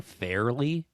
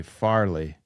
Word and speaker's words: Farley: Are you saying Fairly? Oh, sorry, Farley. I have said it wrong a couple times, I think. I think so. Of the Farley brothers. I'm sorry, it's Farley. I know. I'm sorry. Okay. It's not a. I felt crazy for a second. It's not an obvious mispronunciation like I normally do. Yeah. Yeah, it's Farley.